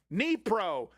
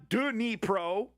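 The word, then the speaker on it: Dnipro: Nepro, not Dro.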